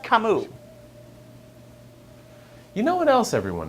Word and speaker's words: Camus: Also, it's pronounced Camus.